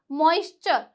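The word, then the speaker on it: moisture: आपने यहां पर देखा तो मैंने इसे क्या पढ़ा मॉइश्चर तो यहां पे टी यू आर ई ने किसका साउंड दिया चर का साउंड दिया और एग्जांपल देखिए जैसे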